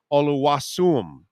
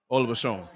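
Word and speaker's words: Oluwaseun: No Zion Williamson, no Justice Oluwasum. Did I pronounce it right? Oluwashon. What? Oluwashon. Oluwashon. Okay. So and John and Nelson.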